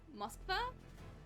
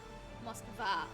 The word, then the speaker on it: Moskva: Moskva. Oh, okay, you pronounced the A a little more.